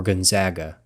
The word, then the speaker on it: Gonzaga: some commentators who ask is it pronounced gun gona Gonzaga or Gonzaga it's the latter by the way while